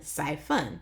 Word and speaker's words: siphon: how to pronounce it s y Sai f-u-n says fun siphon siphon an octopus can shoot